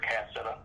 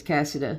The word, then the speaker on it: Cassida: And then it was Officer Spain that showed Officer Cassetta. yeah, I keep pronouncing it wrong, but yes, it's Cassida.